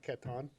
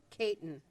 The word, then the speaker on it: Caton: Did I say that right? Catan? Caton. Caton. Okay. Knew I wasn't saying it right.